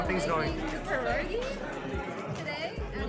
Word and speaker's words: pierogi: How do you pronounce this? It's pierogi.